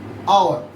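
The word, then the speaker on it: hour: But if I say our, listen, here the sound comes R from here. There is no sound of H.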